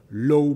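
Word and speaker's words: Law: Les pays riches, écrit encore Low, qu'il faut prononcer le pour les gens chics, L-A-W, le banquier qui a mené à la banqueroute sous Louis XV.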